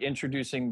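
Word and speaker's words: Endtroducing: So it's spelled like introducing, but it's intro, like with an E. So Introducing.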